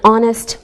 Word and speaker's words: honest: sounds like a vowel sound same with an honest man don't pronounce the H we say a university because